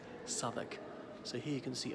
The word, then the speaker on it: Southwark: So Southwark, it's spelled like Southwark, but always pronounced Southwark.